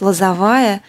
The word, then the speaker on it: Лозовая: Валентин Урюпин родился на Украине, город Лозовая, правильное ударение сделала?